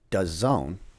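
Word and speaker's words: DAZN: you with this ready it's does zone but when they put it on it's da Zn so that's just the they're not it's does own like that's how it's spelt but when you see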